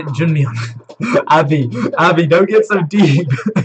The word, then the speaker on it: Junmyeon: Am I pronouncing that right then? Say Junmyeon. Abby, don't get so deep. Suho wants to be called Junmyeon. Okay. Junmyeon.